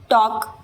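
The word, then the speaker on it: talk: जैसे टॉक L silent वॉक L silent टॉक यानी बात करना।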